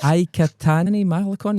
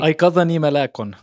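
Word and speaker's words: Aykathani Malakon: Aikatani Malakon, is that right? Aikadani Malakon.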